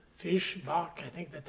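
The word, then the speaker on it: Fischbach: So, this is I think it's pronounced Fishbach is Fishbach.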